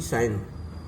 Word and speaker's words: sign: अब चलिए कुछ अक्षर ऐसे भी हैं जिसमें जी साइलेंट वर्ड होते हैं, जी, जैसे कि साइन, तो SIGNE, तो इसमें भी जी साइलेंस वर्ड है, साइन माने चिन्ह।